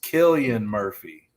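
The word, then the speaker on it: Cillian Murphy: stalling all right his his name is Killian Murphy Killian Murphy not selan but Sil kilan I'm so happy for him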